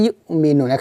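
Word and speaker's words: يؤمنون: রি হিম, ফাহুম লা ইউমিনুন। এখানে ইউ, এখানে আমরা কি করব, ধাক্কা দিব, ইয়া হামজা পেশ ইউ, ইউ, ইউ মিনুন, এভাবে।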